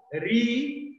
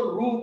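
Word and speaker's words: ऋ: कुछ लोग इसको रू प्रोनाउंस करते हैं, जैसे तेलुगु जो भाषी हैं, तेलुगु पढ़ने वाले, वो रू का प्रोनाउंस करते हैं, जो कि ठीक है, वो अपने हिसाब से प्रोनाउंस करते हैं, बट इसका उच्चारण क्या होना चाहिए, री होना चाहिए, रू नहीं, री।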